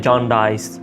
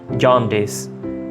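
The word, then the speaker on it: jaundice: इसको प्रोनाउंस करते हैं जॉन्डाइस, लेकिन डाइस नहीं है, डिस है. जॉन्डिस.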